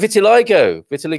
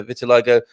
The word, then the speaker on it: vitiligo: to help us uh vitiligo or vitiligo with the stress on oh it is vitiligo yeah he's got a phonetic medical pronunciation in there thank you for that